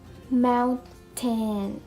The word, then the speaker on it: mountain: For example, mountain. We're not going to pronounce like that, but we are going to pronounce it as mountain, mountain, mountain, mountain.